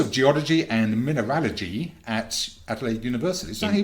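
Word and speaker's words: Adelaide: he became professor of geology and mineraly at adelade University is that he pronounce it it is that is correct and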